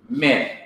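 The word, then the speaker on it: מִן: First of all, you have min, the preposition meaning from, mem, hirik, nu, min.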